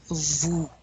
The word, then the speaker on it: vous: The OU is ooh. You really want to round your lips. Vous. We don't pronounce that S, right?